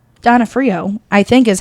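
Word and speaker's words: D'Onofrio: Denafhrio, by the way.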